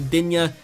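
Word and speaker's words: Digne: Luka Din, or Luka Dinya, as you guys want me to pronounce it. I believe it's actually pronounced Din, but I will pronounce it Dinya for you guys.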